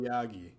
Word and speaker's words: Aoyagi: Takahashi, Aogi or Ayagi. I'm not sure how you say it. Aoyagi.